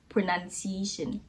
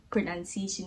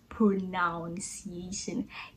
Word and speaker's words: pronunciation: e i o n its pronunciation pronunciation not pronounciation gets its right our